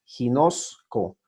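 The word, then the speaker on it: γινώσκω: Se pronuncia como G cuando es la palabra inicia con gamma, ginosco, y se pronuncia con Y cuando es legueto.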